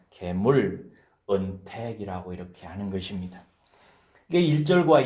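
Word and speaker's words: גמול: 이것은 일반적인 은혜를 지칭하는 게 아니라 무지하고 악하고 어리석어서 범죄했을 때 오히려 그들에게 넘친 은혜를 지칭할 때 계물, 은택이라고 이렇게 하는 것입니다.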